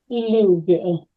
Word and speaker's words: Louisville: in the city of Louisville or Karen you should correct my pronunciation now louville took me a long time it changed that City